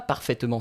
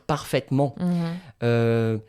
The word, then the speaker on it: parfaitement: On ne dit pas parfaitement, ça s'écrit comme ça, mais on va dire parfaitement.